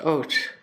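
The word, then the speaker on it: אות: It's pronounced Ot.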